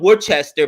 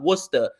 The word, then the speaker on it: Worcester: right outside of Boston it's spelled were Chester but with their accent it comes out Worcester and bro there's some